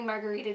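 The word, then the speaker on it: Margaretha: Margarita Margarita is actually spelled differently from how I spell it on my Instagram it's spelled n a r g a r e t h a but nobody um nobody knew that it was pronounced Margarita so I just chose to spell it like Margarita like the drink cuz it just seemed easier miss.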